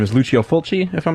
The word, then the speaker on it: Lucio Fulci: I believe the pronunciation of his name is Lucio Fulci, if I'm not mistaken.